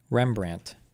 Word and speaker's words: Rembrandt: how do you say this fucker's name rembrand Rembrandt it is Rembrandt cringe okay these authors developed